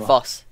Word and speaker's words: Foss: Foss. Foss. It's the Foss army. That's how you pronounce it.